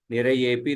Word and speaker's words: निरयेऽपि: This one, the symbol is called as avagraha, but there is no extra pronunciation for it. You just pronounce as nirayepi nrinam.